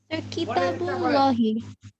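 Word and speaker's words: كتاب الله: স্যার এটাকে কিতাবুল্লাহি হি উচ্চারণ যদি না করি, কিতাবুল্লাহ যদি বলে অসুবিধা হবে? ভুল হবে? অসুবিধা হবে, এই ক্লাসের মধ্যে অসুবিধা হবে।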